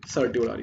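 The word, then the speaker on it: certiorari: Rate सर्टी ओ रारी, इसको मैं pronouns तो रियल में करते हैं सारी सारी, पर इसको बोलते हैं सर्टियोरारी।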